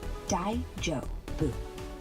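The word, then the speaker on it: 大丈夫: Pronounce it Dai-jo-bu.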